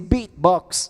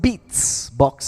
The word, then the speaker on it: beatbox: Everyone say beatbox. Beat. Very nice. Now you say beats box. Okay. It's not beats box. It's beatbox. Very nice.